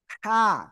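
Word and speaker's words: حاء: হা। কি হবে? হা। এই যে দেখেন সবাই। এই যে অক্ষরটা এ অক্ষরের নাম কি? হা গলাটা চেপে হালকা বাতাস বের করে আপনাদের কিন্তু এটা উচ্চারণ করতে হবে।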